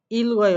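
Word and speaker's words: 읽어요: সে গোল ইল গয়, ইক্তা মানে পড়া, রিউল গিউক এখানে অয়ো। তাহলে এখানে কি হচ্ছে? যেহেতু গিউকটা ওঠার পজিশন আছে তাই রিউলটা উচ্চারণ করতে হবে আর গিউকে উপরে তুলে উচ্চারণ করতে হবে।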